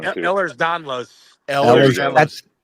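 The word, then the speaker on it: Ehlers-Danlos: Ehlers Danlos.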